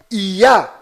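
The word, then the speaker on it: יה: Toda vez que estas duas letras hebraicas estão fazendo referência ao Altíssimo, estão fazendo menção ao Altíssimo, a pronúncia delas sempre é Yah.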